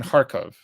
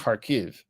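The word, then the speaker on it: Kharkiv: way in Ukraine there was a resistance in harkov okay now it's pronounced harv because it is Ukrainian uh but there's a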